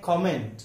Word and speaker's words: comment: दूसरा अगला शब्द है COMMENT। इसका सही उच्चारण है कमेंट, लेकिन हम बहुत सारे जगहों पे कमेंट सुनते हैं या कमेंट बोला जाता है।